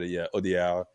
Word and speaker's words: Audiard: Here it's like it's just Audiard is probably good enough, but Audiard because it's just you lose the last D in the pronunciation, but you got it, Sam.